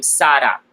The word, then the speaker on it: Sara: Yeah, which, by the way, she likes to pronounce her name Sara. So Sara. So it's like in English you would say SDA, I guess, like Sara.